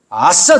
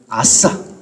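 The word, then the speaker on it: עשה: 구절에서 행하게 하다라는 단어가 히브리어로 아싸입니다. 아싸 좋다. 이런 발음이야. 아싸.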